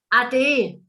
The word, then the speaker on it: ade: In local German, we say ade. There we are. I knew there'd be a different word. Ade. A-D-E. Ade. Ade, like adieu.